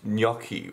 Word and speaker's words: gnocchi: Whenever I say this, you guys say I say it wrong, but it's a gnocchi. It's gnocchi. Why can no one pronounce this? I'm Italian and this really annoys me.